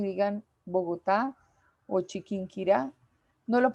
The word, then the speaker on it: Chiquinquirá: sílaba tónica por ejemplo cuando yo digo bogotá chiquinquirá la sílaba tónica es la que lleva la fuerza de acentuación yo lo digo bogotá